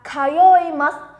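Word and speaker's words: 通います: Chúng ta đọc là kayoimasu. Nhớ nhá, âm yo này các bạn phải lưu ý đấy. Chúng ta đọc là yo, không đọc là zo hay là giờ của tiếng Việt nhá.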